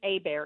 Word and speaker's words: Hebert: Bear. Abear. It's spelled Hebert. I know, but I don't care.